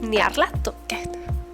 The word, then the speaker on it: Nyarlathotep: a varios entes, entre ellos, atentos, Cthulhu y Nyarlathotep. Yo lo pronuncio así, ¿vale?